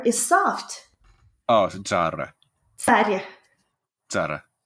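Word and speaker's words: царь: Oh, yes, Tsar Sin. It's actually pronounced Tsar. It's using the ts letter that we looked at.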